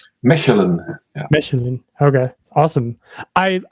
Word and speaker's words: Mechelen: Am I pronouncing that right? Mechelen.